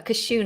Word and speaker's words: cashew: Cashew, a cashew nut. Cashew. How do you pronounce cashew? Cashew. It sounds like you're sneezing.